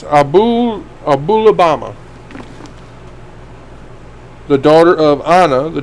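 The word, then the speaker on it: Aholibamah: I want to pronounce her name Alabama. When you look at her name, it's just the way I want to pronounce it, but it's Abulabama.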